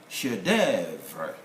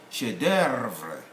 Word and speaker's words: chef d'oeuvre: The F is not present in the sound. This is called chef d'oeuvre. And so, chef d'oeuvre, chef d'oeuvre. That's educated American sound.